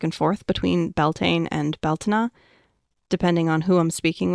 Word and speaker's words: Bealtaine: That's why I tend to lean more toward the Irish Scottish Gaelic pronunciations and spellings, Beltina and Beltana, respectively.